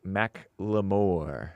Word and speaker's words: McLemore: McLemore. Pronounced Macklemore.